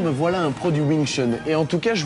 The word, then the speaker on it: Wing Chun: Wing Chun. Bonne prononciation.